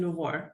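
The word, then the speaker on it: LUVOIR: I don't know why we give it the the French touch when we pronounce it because really doesn't have to do anything with France but it sounds good H lar had two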